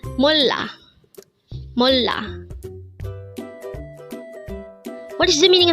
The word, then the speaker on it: 몰라: 90 mola again it's mola this is pronounced as a two syllable word the first syllable is M second syllable is La pronounce it with me it's mola mola what is the